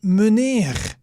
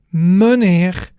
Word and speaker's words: meneer: Then we had meneer.